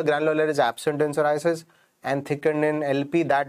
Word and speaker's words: psoriasis: In the word psoriasis, P is silent.